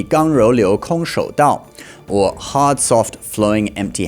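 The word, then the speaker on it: 剛柔流空手道: In Chinese pronunciation, the name of that would be Gang Rou Liu Kong Shou Dao, or hard soft flowing empty handed way.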